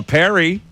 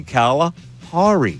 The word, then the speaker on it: Calipari: By that logic, it would be Calapari, which is probably why I said it that way. But it's wrong. You It's wrong. It's Caliperry.